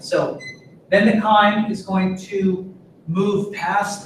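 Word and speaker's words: chyme: then it's saying acid K I mean really we just call it K so I know it's a CH but we pronounce the CH as a hard k sound when the Val V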